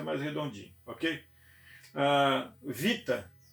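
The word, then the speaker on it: βήτα: Vita é o B, mas o som não é beta, é vita.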